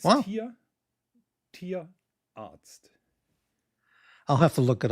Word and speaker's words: Tierarzt: Tierarzt. Say that again, please. Tierarzt. So an animal is called Tier in German, and Arzt is the doctor. Tierarzt. Tierarzt. Tierarzt. No, it's Wow. Tierarzt.